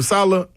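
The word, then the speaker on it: Saleh: wasn't solid that's how you say his name Salah Robert yeah I knew it wasn't his fault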